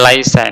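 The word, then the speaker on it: ليس: berhenti-berhenti ituu selanjutnya Laisa Ah ini dibacanya Laisa ini ya tapi mungkin hilang karena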